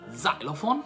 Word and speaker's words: xylophone: La X in inglese, quando si trova all'inizio di una parola, si pronuncia come la Z. Cazzo dici! Quindi xilofono diventa xylophone, xenofobia diventa xenofobia, e